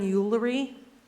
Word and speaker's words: Eulery: Next, we have, and I'm sorry if I mispronounced your last name, Yuli? I'm sorry. When you get to the podium, can you repronounce it? Thank you. Eulery.